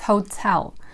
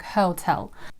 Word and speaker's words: hotel: It's hotel. The thing about this word is the stress. Some of my students tend to pronounce it with the first syllable stress, like hotel.